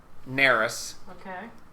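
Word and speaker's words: Naeris: playing okay uh naris grezover okay you gotta spell that n-a-e-r-i-s neris g-r-e-z-a-v-u-r and it is the great cleric of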